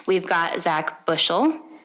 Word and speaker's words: Buchel: Everybody always pronounces it that way. Like the teachers would always pronounce it Buchel and think I'm French. But see, and it's actually Lithuanian.